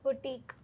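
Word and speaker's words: boutique: ഓഫ് U business എന്ന് വേണം പറയാം ഓക്കേ അടുത്തത് ബുട്ടീക് ബൂട്ടീക് ഇവിടെയും ടെ സൗണ്ട് ശ്രദ്ധിക്കുക.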